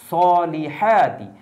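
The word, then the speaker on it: الصَّالِحَاتِ: আর আলিফ লামের উচ্চারণ হবে না।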